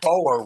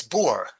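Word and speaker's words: Boer: level marriage and I keep forgetting that o e in Africans is pronounced oo. So I always thought of it was the boar wars but it's bore, right?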